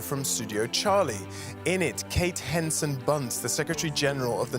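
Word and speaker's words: Kate Hansen Bundt: Forum, and I'm thrilled to be joined by Kate Henson-Bundt. Am I pronouncing it correctly?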